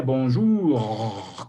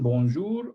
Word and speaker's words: bonjour: Se pronuncia bonjour como si tuvieras mucho moco en la garganta o tos.